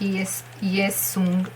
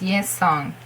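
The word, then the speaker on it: Yesung: Not yes sung. It's yes song. With o or o. Oh, it's o. O. O. Not o. O. Yeah, you feel the difference, okay? I'm really trying hard, but I can pronounce it a lot better when I'm saying it in a syllable, a word. song. So something like sing, song. You got it? Okay, so that's yes, song.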